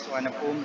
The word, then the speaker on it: Suvarnabhumi: So BKK is Suvarnabhumi, it's pronounced as Suvarnabhumi Airport, while BKK is Don Mueang Airport, or a national.